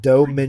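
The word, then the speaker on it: Domińczyk: Oh, her name is pronounced Dominchik. Ridiculous movie. Dominchik.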